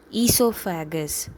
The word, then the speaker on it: oesophagus: your food pipe is esophagus. Okay, it is OESOPHAGUS, the spelling, but you need to read it as esophagus. O is silent, right?